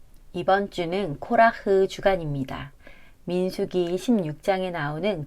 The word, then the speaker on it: קרח: 이번 주는 코라흐 주간입니다. 민수기 16장에 나오는 고라의 이름이 원어로는 코라흐입니다.